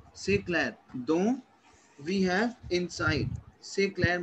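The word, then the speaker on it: dans: Dont, a, avec, pour. Is it clear to you? Yeah. C'est clair. Why? So which one is for inside and which one? This is for inside. Don.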